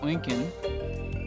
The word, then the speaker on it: Eugen: It's pronounced Eugen.